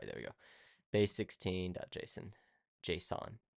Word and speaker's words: JSON: JSON. I always say Jason. I know it's not Jason. I know that's not how you pronounce it.